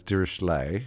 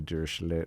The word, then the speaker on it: Dirichlet: The common way is Dirichlet, which is the French way. Some people say that's wrong because I think the statistician was actually German, so it should be Dirichlet, but let's...